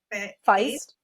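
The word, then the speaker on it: Faist: Mike Feist.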